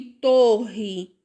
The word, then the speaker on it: torre: Olha o som, coroa e torre. O som do R é diferente, ou seja, eu vou usar dois R's e não um R só, certo?